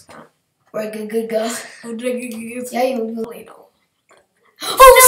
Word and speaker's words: Regigigas: I used to never be able to pronounce that. Regigigas.